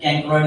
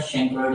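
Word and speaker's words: chancroid: ये शैंक्रोइड, पहली बात तो इसका प्रोनाउंसिएशन कैंक्रोइड नहीं होता, शैंक्रोइड होता है।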